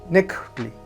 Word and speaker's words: nekuhtli: Para decir pulque en la variante de Texcoco decimos nekuhtli, nekuhtli. Es una de las palabras más difíciles de pronunciar por esa k al final. Nekuhtli. Hacemos un sonido k.